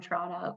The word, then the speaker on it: Toronto: like I'm not from Toronto because we don't pronounce the T I was just gonna